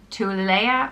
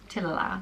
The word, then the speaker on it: Tuilelaith: be pronounced Tuilelaith, and I think again depending on where in Ireland you are. So Tuilelaith or Tuilelaith.